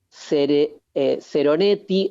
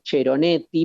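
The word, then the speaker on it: Ceronetti: El texto se llama El Cantar de los Cantares y el autor se llama Guido Seroneti. En realidad debería ser Cheroneti porque se escribe con C.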